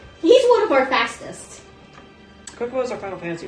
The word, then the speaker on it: Chocobo: Kokobos are Final Fantasy, right? Or is that... No, it's Final Fantasy. Okay, make sure I'm not losing my mind. I've always pronounced it Chocobo, though.